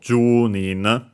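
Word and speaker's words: 十人: So Jun uh accented on uh Jew so before the Nin.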